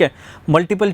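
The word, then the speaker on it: Hamlet: जैसे यहाँ पर दिया गया है, वो पहले पूछ रहे हैं हैमले का, ठीक है, हैमलेट इसे हम प्रोनाउंस करते हैं।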